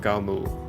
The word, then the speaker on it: Galmul: And then, last Thursday, the one-shot we've got lined up is the Dwarf Caverns of Galmul. That's the pronunciation I've decided on. I'm sticking with it.